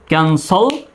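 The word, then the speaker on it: cancel: Sell বা সল দুইভাবে উচ্চারণ করা যায়, ক্যান্সল বা ক্যান্সেল, দুটো উচ্চারণই সঠিক, ক্যান্সেল বা ক্যান্সেল।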